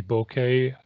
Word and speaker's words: bokeh: or creamy blurred background I'm pronouncing it bokeh it could be bouquet it's not boquete like our bouquet of roses but what I'm looking